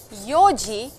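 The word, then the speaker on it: 四時: So please remember that 4 and 7 is 4時 and 7時 and not 7時 or 7時. Please, this is not to be used for time.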